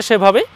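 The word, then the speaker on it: ث: আমরা প্রথম পর্বে বলেছিলাম যে দুইটি হরফ নরম হবে এই যে তিন নুক্তাওয়ালা সা আর এক নুক্তাওয়ালা জাল উচ্চারণের স্থান একটাই এক জায়গা থেকে উচ্চারণ হবে দুইটি বর্ণ জাল আমরা নরম করে উচ্চারণ করব আর একটি বর্ণের ব্যাপারে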